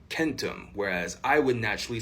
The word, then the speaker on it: centum: And we also see hard C's in places like Latin, where famously 100 is centum, but it was probably more often pronounced more like centum, whereas I would naturally say that more like centum.